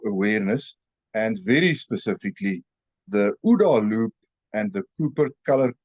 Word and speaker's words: OODA: topic of situational awareness and very specifically the UDA Loop and the Cooper color code of awareness